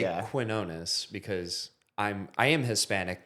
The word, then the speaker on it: Quinones: And it's truly the joke is it's it's actually truly kinonis. Like that's the Hispanic way to say it. right? With the W after the Q. I say quinonus because I'm I am